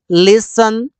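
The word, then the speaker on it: listen: एस नहीं बोलते हैं जब एस एफ के बाद टी आता है तो टी सेलेंट होता है अगर एस आ जाए या फिर एफ आ जाए अगर यह दोनों के बाद एस एफ के बाद अगर टी आए इस टी को नहीं बोलते हैं जैसे लिसन on Huygens सफन match scratch Christmas कहीं पर भी टी को नहीं बोला गया इस चीजों को याद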